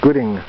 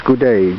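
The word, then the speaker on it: Gaudet: little house belongs to henry gude gudi the woman at the bank said we should talk to henry and when she pronounced it i thought she was saying henry gooding but his name is gude g-a-u-d-e-t and henry is a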